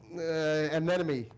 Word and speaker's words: anemone: looked at it, and I knew it had a rhyme with 3 because it was a rhyming book, so I'm like, anemone.